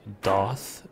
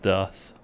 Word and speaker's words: doth: that's the second time they've used doth and they're saying it wrong it's death like does yes i talked to